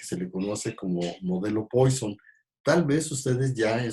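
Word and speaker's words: Poisson: de poison o razón no se pronunciaría francés el nombre de esta distribución se lo digamos algo estadístico francés que se apellida más y wason y no hoy son como se acostumbra decir en inglés este si se fijan tiene doble doble s razón si se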